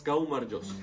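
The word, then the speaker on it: გაუმარჯოს: But everyone tries to say it, but no one is it because most of the words are hard to pronounce. It's gaumarjos.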